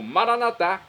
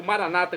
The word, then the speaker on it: Maranatá: Agora eu clamo Maranatá, como dizemos os nossos católicos, ou maranata, como dizem nossos irmãos separados das comunidades evangélicas ou protestantes. Não importa a pronúncia, o significado é o mesmo.